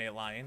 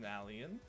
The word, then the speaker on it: Nalion: chat when they tell you that I'm an a lion it is pronounced nallan I am a uh little bit of a